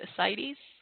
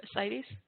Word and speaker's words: ascites: And I have seen it being given, I don't know how to pronounce it, ascites. Is that the right way to pronounce it, Monica G. Andrew? Ascites?